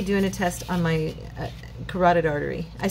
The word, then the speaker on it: carotid: I think I said Carter. I don't remember how I said it, but I know I said it wrong. I just realized when I was saying it, it's the carotid artery.